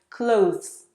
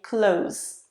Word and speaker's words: clothes: common in IELTS, and perhaps you were taught to pronounce it as clothes, TH and then S. But if you struggle to do that, you can just say clothes, because if you open the Oxford Dictionary, there are 2 pronunciations, clothes and just clothes. So choose either.